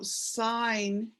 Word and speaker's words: sign: And so sign, IGN, and the G sounds silent, but it's important there because it would be a completely different word if it weren't there. Okay. Just sign. Sign.